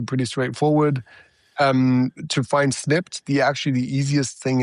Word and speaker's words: Snipd: Um to find Snipped, the actually the easiest thing is to go to the App Store, the Google Play Store and enter Snipped.